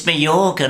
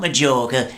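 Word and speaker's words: Majorca: could go to maor it's maor not major you pronounced the J with a y when are we going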